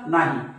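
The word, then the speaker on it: knee: कणी असं वाचतात का नाही कणी नाही म्हणत ना आपण याला नी म्हणतो बघा नी म्हणजे यात के चा उच्चार होत नाही मग केव्हा होत नाही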